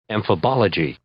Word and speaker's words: amphibology: So let's try amphibology? Let's see our actual pronouncer and see what that says and see how accurate close I was, or actually more see how accurately off I was. Amphibology. Amphibology. Amphibology. All right. amphibology is our word. I got that pronunciation pretty close.